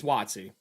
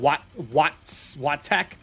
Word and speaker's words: WotC: WotC, that's how you pronounce it. Todd and I heard somebody recently pronounce it weird, and I am arguing it. It's WotC. It's not, what was it, Todd? Wattec?